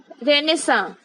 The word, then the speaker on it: Renaissance: Option A is correct, रेनेसा। हम इसे pronounce किसी और तरीके से करते हैं एंड इसकी स्पेलिंग डिफरेंट होती है।